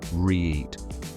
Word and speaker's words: REIT: That's the power of a REIT, pronounced REIT.